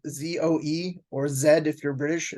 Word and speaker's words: Zoe: think there's a girl's name also you know it's spelled z-o-e or Zed if you're British z-o-e Zoe it